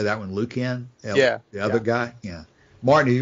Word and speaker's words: Lucan: Martin, have you read much of no, I've been saying Lucian and Don said Lucian. Either six of one, half dozen of another. That's. I reserved the hard C for Lucan.